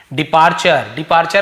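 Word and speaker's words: departure: डिपार्चर का मतलब क्या है, TURE, चर पढ़ते, चर, फ्यूचर, है ना, नेचर, मॉइस्चर, तो TUR चर, डिपार्चर।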